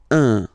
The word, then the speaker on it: un: without any doubt, but you've got to pronounce it like un. So it's what we call the nasal, so it goes in your nose, okay? Un. So if you listen to me, you don't hear any N, okay?